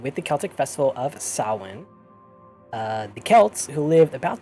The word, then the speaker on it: Samhain: And for those that don't know, it is pronounced Samhain. And it is spelled Samhein. Or, I'm sorry, Hain. I always do that. It looks like Sam Hain. It really does look like Samhain. Yeah, and it's Samhain.